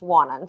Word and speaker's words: Wannon: about it it's spelt wannan but it is pronounced wannan so you might have heard of warren falls